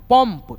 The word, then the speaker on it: पंप: तो जैसे देखिए रन, रन, रन जन, उसके बाद से पम, पंप, यानी म के रूप में।